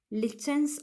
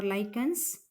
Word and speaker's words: lichens: The next one, lichens or lichens.